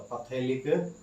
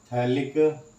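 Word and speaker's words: phthalic: बोलते हैं थैलिक acid, लेकिन नेम किससे, पी से स्टार्ट होता है, तो पैथेलिक एसिड बोलेंगे इसको, थैलिक एसिड, पी साइलेंट होता है।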